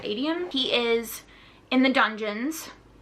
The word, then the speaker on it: Aedion: Aedion, I think it's actually, Aedion is how you pronounce it, Aedion.